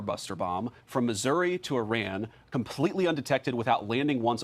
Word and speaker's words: Iran: Like, you don't have to pronounce the I. Like, please. Iran. What? Why is that so difficult? Someone please out there explain this to me. Like, it's Iraq. It's Iran.